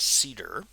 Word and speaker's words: CIDR: can read about CIDR it's pronounced cedar and the format is